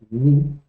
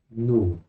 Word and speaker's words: nu: que corresponde alego moderno el nombre que vemos en la Ray es ni pero la pronunciación antigua es nu un ejemplo sería NX